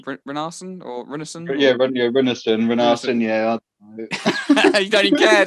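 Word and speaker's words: Rúnarsson: Yeah, Renarsson.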